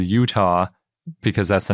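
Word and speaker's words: Eutaw: yes and it's called Utah because that's the name of the formation but it's spelled e-u-t-a-w so it's pronounced apparently just like Utah the state but it's spelled very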